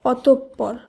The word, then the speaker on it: অতঃপর: এরপর বিসর্গযুক্ত এই শব্দটির উচ্চারণ হবে অতঃপর। অতঃপর। কারণ বিসর্গের নিয়ম অনুসারে বিসর্গের পরে যে বর্ণটি থাকে তার উচ্চারণ দ্বিত্ব হিসাবে হয়, তাই এখানে প দুবার উচ্চারিত হবে।